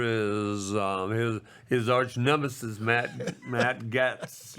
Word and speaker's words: Gaetz: My loser is his arch nemesis, Matt Gaetz or Gates. I think Gates is how they pronounce Gates it.